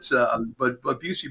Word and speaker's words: Busey: We're going to see that, I'm sure people are going to mispronounce Busey Bank all over the Midwest. The Bussy Bank or whatever it is that.